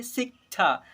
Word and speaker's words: शिक्षा: यहाँ पर लिखा हुआ है निभाना, निभाना के बाद शिक्षा, शिक्षा नहीं शिक्षा, क की भी उच्चारण करेंगे, शिक्षा ऐसे पढ़ेंगे।